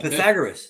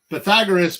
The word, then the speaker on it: Pythagoras: It's not Pythagoras.